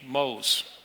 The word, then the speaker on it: MOSE: that project in Venice it's actually named Mo's or Moses in Italian it's the right name